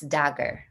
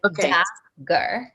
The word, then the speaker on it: Dagger: your last name sure it's dagger dagger like d like dager okay thank you so